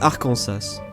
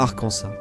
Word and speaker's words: Arkansas: Contrairement à certains autres états, le numéro 49, l'Arcansas, ça se prononce Arkansas, pas Arcansa.